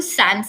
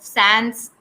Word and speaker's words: sans: Sans, I think it's pronounced as saw something in French, and it means without.